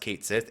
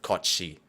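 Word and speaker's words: Cait Sith: like a Scottish legend, is not pronounced Kate Sith. It's pronounced something along the lines of Kochi.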